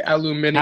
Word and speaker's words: aluminium: I like to pronounce it in the English way, aluminium. Aluminium.